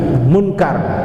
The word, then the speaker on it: Munkar: Kenapa disebut munkar? Bacanya munkar, pakai kapnya dipathain.